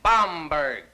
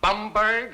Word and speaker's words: Baumberg: My name is Baumberg. It is not Bumberg, it is not Bemberg, it is not Bimbert. It is Baumberg.